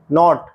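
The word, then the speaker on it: knot: एफ E knife चाकू के एन ओ टी नॉट गांठ एल साइलेंट पाम हथेली काम शांति हाफ आधा वॉक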